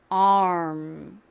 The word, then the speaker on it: arm: 보겠습니다 어떻게 발음하면 되죠 먼저에 R 소리를 내다가 입을 어떻게 해야죠음 모양으로 바꿔 주시면 됩니다 아이라고 소리를 내대 입모양은음 자 해볼까요 ARM 한번 해보겠습니다 아까 말씀드렸던